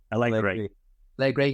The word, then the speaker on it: Allegri: Yes, he wasn't attacking, but in the actual squad, it was Allegri. Is that his name? How do you say the manager? Allegri, yeah.